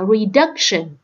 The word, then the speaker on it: reduction: Chỉ có câu B là reduction, là nhấn vào âm thứ hai. Mình đọc là reduction, nhấn vào âm thứ hai.